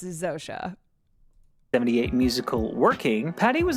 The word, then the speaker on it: Zosia: i know it's Zosa sometimes my sometimes I pronounce something the way that it's written but I know it's Zosha 78 musical working patty was invited by David